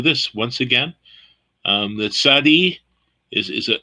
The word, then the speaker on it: Tsade: other letter has that that we have in english there is no so you have to put a t z or a t s to get that sound which sounds like a